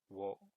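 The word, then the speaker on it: を: A lot of the times it's a particle marker.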